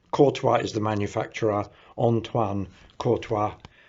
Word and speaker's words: Courtois: the name of it trying to get the french pronunciation right courtois is the manufacturer antoine